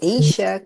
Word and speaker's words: Asia: Asia is spelled as A-S-I-A, like the continent.